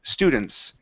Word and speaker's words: students: Blake put her students so less of an ooh we don't want to push too hard on that o it's St students nice and light students Miss Blake put